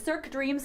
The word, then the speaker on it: Cirque Dreams: I'm going to blow the pronunciation again, so help me out. It's okay. It's Cirque Dreams Holidays.